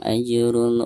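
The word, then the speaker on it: أَجْرٌ: "Falahum ajrun", ada jim sukun dan posisinya di tengah bacaan, sehingga dianggap qalqalah sugro dan harus dibaca dengan sedikit gerakan memantul.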